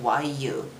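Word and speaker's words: Yuu: It's officially, it's only written YU, but people would pronounce it you. But my name is Yu. It's longer. So I usually spell it Y-U-U, so that you know, oh, it's a long vowel.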